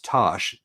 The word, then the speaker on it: Tass: It's Tosh, Tass, Yep. but Tass is from with a Correct. J A after it. So it's pronounced Tosh, and it's spelled Tass.